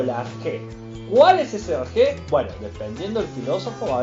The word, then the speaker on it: arjé: En vez de decir principio, decían arjé. Principio, arjé. Arjé. Arjé. Arjé se escribe A-R-C-H-E, acento en la E.